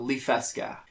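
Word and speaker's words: Liffeska: settled on so that little town is called lee fesca and again with this one i messed around with how it's spelled so that one i spelled l-i-f-f-e-s-k-a with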